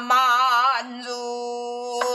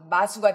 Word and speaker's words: 만수: 자, 마수가 되니까 만, 만수, 만수. 니은 발음을 꼭, 그렇지. 초, 초, 중, 종성 있잖아. 종성, 마무리, 받침 소리까지 완벽하게 해줘야 돼. 아니면 마수가 돼. 에라 마수가 뭐야? 만수지.